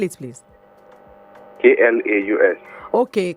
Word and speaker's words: Klaus: is sorry i didn't get it spell it please k-l-a-u-s okay klaus okay all right it's klaus okay all right